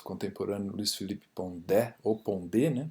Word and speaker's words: Pondé: O Pondé, o filósofo contemporâneo Luiz Felipe Pondé, ou Pondé, né? Porque o sobrenome é francês, né? Então a pronúncia correta é Pondé.